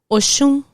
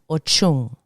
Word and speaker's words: Oshun: Oshun. Oshun. And in Spanish, Ochun. Again, remember the SH turns into a CH. Ochun. Yewa.